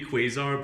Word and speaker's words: Kwuasar: story of the Daimyo and Dora Kwuasar is supposed to be Kwuasar, but like spelled with a K.